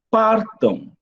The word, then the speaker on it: partam: Partam, partam. Você viu? O dígrafo, a gente não pronuncia, só serve para nasalizar. Mas o partam, o M não tem som de M, mas tem som de W.